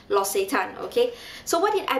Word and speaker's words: L'Occitane: did i buy in Las a time or let's just assume that the correct spelling the correct pronunciation is lost a time okay so what did